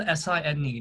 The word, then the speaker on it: Sine: And it's spelled S-I-N-E, not S-I-G-N. It's like the sine curve, sine wave.